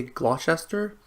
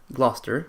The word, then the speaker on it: Gloucester: the tailor of Gloucester forgive me if sometimes during the story i might say gloss chester best way I've always pronounced it before being corrected but it is indeed Gloucester and I will try